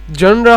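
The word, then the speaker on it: genre: জনরা জানরা এটা এটা হয়তোবা স্পেলিং মনে হতে পারে।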